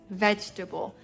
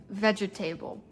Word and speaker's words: vegetable: The right way to say it is vegetable, not vegetable. That does not sound right.